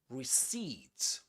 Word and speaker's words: receipt: The accented syllable is the last one.